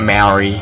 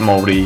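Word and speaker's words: Māori: Molly yes it Proust of moldy not Mary I've confirmed this with multiple people it's morally I suppose if you're extremely white then you say Mary like my grandfather but hey Creek pronunciation is Maury honey it is basically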